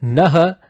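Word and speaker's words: नः: Nah, as in you end the Nah sound with a force. Right? So I would not recommend that, because when you say Nah Prachodayat, there is a high risk for you to mispronounce Nah as Na.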